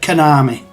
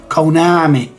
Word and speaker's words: Konami: of saying it I I've always said Konami lazily pronouncing the O as an e or an A really Konami but yeah I mean if you're to pronounce it um better then it would be Konami um yeah I cannot think